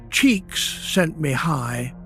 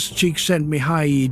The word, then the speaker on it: Csikszentmihalyi: Mihaly Csikszentmihalyi, pronounced approximately Csikszentmihalyi, was a Hungarian-American psychologist who spent his career studying a specific and unusual psychological state that he named flow.